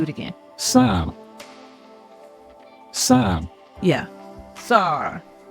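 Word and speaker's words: שַׂר: Sar. Not Shar.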